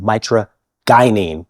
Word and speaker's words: mitragynine: Mitragina speciosa plant, and the naturally occurring psychoactive ingredient in this plant is called mitragynine. We're going to go hard G for the alkaloid, mitragynine.